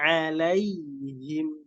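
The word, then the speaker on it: عليهم: An'amta alaihim. An'amta alaihim. An'amta alaihim. Kemudian ada huruf ta, ya, taknya tipis. Membacanya seperti tersenyum. Kemudian ada huruf ain lagi. Hati-hati. Alaihim. Alaihim. Kemudian ada lam, lamnya dibaca tipis.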